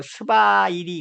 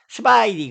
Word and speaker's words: 斯白力: 그래서 사백역이 요 지금 현재 중화인민공화국의 발음으로 스바이리 그래요. 스바이리 그래요.